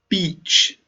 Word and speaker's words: beach: It is different to beach, the holiday place with lots of sound. This one is long.